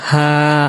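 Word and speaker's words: ح: গোল হা যেটা সেটা অনেক শেষে আসবে ইনশাআল্লাহ, তার উচ্চারণটা হলো হা। আর আমি এখন যে হার উচ্চারণটা বলতেছি সেটা হলো হা। কণ্ঠনালী একটু চেপে চেপে উচ্চারণ করতে হয়, হা।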